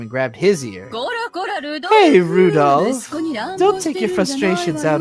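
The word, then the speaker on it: Rudolf: tell you that that mess of characters just pronounced Rudolph haha he must must hate grandfather for giving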